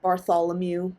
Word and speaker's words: Bartholomew: pun Bartholomew uh it would just be spelled like Bartholomew but you say Mew like it's a cat and you can nickname